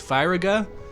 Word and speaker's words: Firaga: Like, it's all the spells have short sounds. It's Firaga, Blizzaga, Thundaga, and so on.